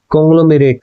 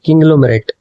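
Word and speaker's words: conglomerate: कॉन्ग्लोमेरेट, अरे ये नहीं होता, इसको बोलते हैं हम किंग्लोमेरेट।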